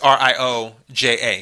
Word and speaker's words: Rioja: Another 2%, La Rioja, which is Rioja, because the J's are H's.